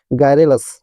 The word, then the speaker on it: garrulous: तो इसका मतलब फर्स्ट मैं प्रोनाउंसिएशन बता दूं, GRGARRULOUS, है ना, मतलब गायरेलस।